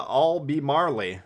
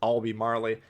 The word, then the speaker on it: Albemarle: seven british heavy cruiser the all be marley as they say in the uk i'm gonna just go with marley even though my friends from the uk assure me that that's how it's pronounced i'll be marley but we'll go with marley on this channel uh note the armor